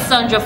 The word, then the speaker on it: Sahndra: Without much ado, I am your host, Sahndra from Dufe. The H is silent.